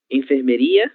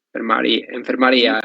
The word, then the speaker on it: enfermaria: Enfermeria? Não, enfermaria. Enfermaria, exatamente. É quase a mesma coisa, pero é diferente.